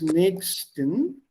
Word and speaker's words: nächsten: There's a CH. Yes. Like Hoch. I made the mistake yesterday with the Hoch.